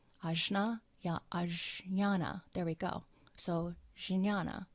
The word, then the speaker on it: Jnana: And I found this quote on Wikipedia as far as the path of Jnana. I'm not sure if I'm pronouncing it correctly. Jnana, there we go.